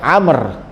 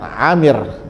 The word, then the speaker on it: Amr: Rasulullah Shallallahu Alaihi Wasallam kalau ada sahabat yang namanya ada Ain Meme rok Wow itu dibacanya Amr bukan Aamir ya karena ada juga